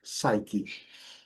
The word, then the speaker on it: psyche: Psyche. Essa compensa ter cuidado para a gente poder ter uma boa pronúncia.